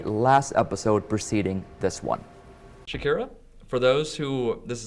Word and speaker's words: Shykira: Shykira, for those who this is the first time seeing you, first time hearing from you, tell us a bit about yourself. Well, my name is Shykira. Yes, you pronounce it just like the singer Shykira.